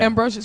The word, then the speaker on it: Ambrosius: Ambrosius.